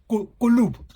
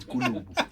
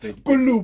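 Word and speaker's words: Kulübü: This time around, your pronunciation was not that bad. It is indeed Kulubu. Kulubu.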